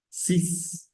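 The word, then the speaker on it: six: y se pronuncia s sis Sí esa x en este caso puntual va a sonar como una s y va a tener sonido y va a ser sis sis bien si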